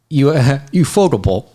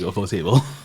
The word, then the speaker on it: ufotable: So I get the feeling, knowing, ufotable. Is that how we pronounce it? No, We should stick with we UFO. agreed UFO table. We should Yeah, just stick I with. will call it UFO table.